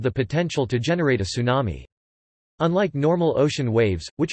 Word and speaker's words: tsunami: English pronunciation, tsunami, or sometimes incorrectly referred to as a tidal